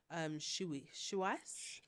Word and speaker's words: Xiaoice: It's spelled XIAOICE, but it's pronounced Shuice. I've never heard of that one. Shuice was made in 2019, and she learned EQ skills before IQ skills.